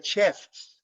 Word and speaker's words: chefs: It's very difficult to pronounce this word at the beginning, chef, because you pronounce the final F, chef, and then the final S, okay?